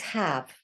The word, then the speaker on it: have: And this is have. Her, v, with a quiet E on the end. Can't hear that one at all.